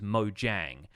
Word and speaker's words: Mojang: for a while but apparently the company name is mojang so it's it's distinct from that and kind of maybe the Americanized pronunciation of it but I believe internationally it is supposed to be Mojang so yeah I don't